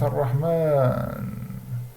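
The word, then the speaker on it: الرحمن: Bien sûr, il y a un alif qui n'est pas écrit, mais qui se prononce Ar-Rahman.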